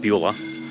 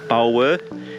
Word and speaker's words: Bulwer: always have trouble pronouncing these towns, but yeah, I think it's called Bulwer or not Beulah, not Ferris Bueller, Bulwer.